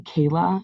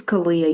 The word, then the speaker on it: Kalia: Um, and then do you say Kayla? Is that how you say it? Kalia? I sent another link, so see if you can try that. Okay, it's Kalia. You got it correct.